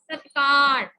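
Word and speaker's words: ਸਤਿਕਾਰ: अगर तुसी सत्कार बोलते हो तो फिर तुसी तत्ते नु बिहारी पा देंगे, नहीं सत्कार। अगर आप सत्कार बोलते तो तत्ते नु बिहारी पै जाती। सो ताही मैं तुहानू कह रही अपनी प्रोनाउंसिएशन ठीक करो। सो एग्जैक्ट वर्ड इज सत्कार।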